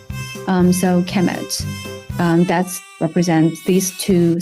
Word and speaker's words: Kemet: uh it will be the noun will be pronounced a kemet.